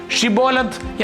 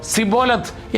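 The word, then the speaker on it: Shibboleth: കടന്നുപോകുന്ന ഓരോരുത്തരോടും ഷിബോലത്ത് എന്ന വാക്ക് ഉച്ചരിക്കാൻ അവർ ആവശ്യപ്പെട്ടു. പ്രാദേശികമായ സംസാരരീതിയിലെ വ്യത്യാസം കാരണം എഫ്രേമിയർക്ക് ഷാ എന്ന ശബ്ദം ശരിയായി ഉച്ചരിക്കാൻ കഴിയുമായിരുന്നില്ല. പകരം അവർ സിബോലത്ത് എന്നാണ് പറഞ്ഞിരുന്നത്.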